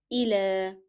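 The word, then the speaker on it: إلى: So how shall we say this? Ila, as if we are having here alif.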